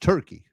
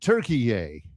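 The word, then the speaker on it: Türkiye: It's T-U with a couple of dots on the top, R-K-I-Y-E, and now they pronounce it Turkey.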